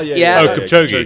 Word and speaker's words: Kipchoge: Kipchoge.